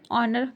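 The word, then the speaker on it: honour: अब से उसके बाद देखिए ऑनर।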